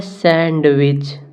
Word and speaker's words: sandwich: तो यहाँ पर लिखा SANDWICH, सैंडविच लिखा है सैंडविच, परंतु इसे हम सैंडविच पढ़ते नहीं हैं, इसे हम पढ़ते हैं सैंडविच। सैंडविच। तो यहाँ पर डी को पढ़ा नहीं जाता है, इसलिए डी साइलेंट रहेगा।